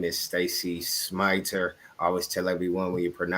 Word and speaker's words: Smiter: First and foremost, my name is Stacy Smiter. I always tell everyone when you're pronouncing that last name, think of the word to smite and then put ter on the end. So it's a smiter.